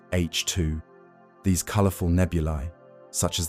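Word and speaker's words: H II: gas, creating glowing regions called H2 regions, pronounced H2.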